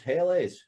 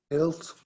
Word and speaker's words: Helles: I thought it was always Helles. That's my lazy, nondescript pronunciation. Bruce, is it Hells or Helles? Hells.